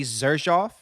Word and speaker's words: Xerjoff: So it's pronounced almost like a Z, right? Like a mixture between a S and a Z. Zersof.